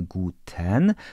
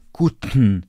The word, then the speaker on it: Guten: to się nazywa aspiracja t p i k wymawiamy nie tak płasko jak po polsku czyli nie powiemy tak albo nie mówimy Guten tylko mówimy kutn kutn albo tak tak